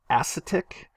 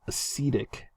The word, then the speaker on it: acetic: those acetic acetic acid now you you may want to say atic because it's acetate ion but this is where the pronunciation will change so this is acetic acid okay hi is another